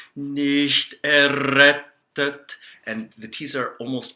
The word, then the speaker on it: errettet: So there's two T's in the word errettet, and so we pronounce that by closing off on the first T and then exploding into the second T. Nicht errettet, and the T's are almost always dental T's in languages other than English.